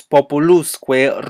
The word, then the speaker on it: populusque: When used, the stress is placed on the syllable preceding the enclitic particle.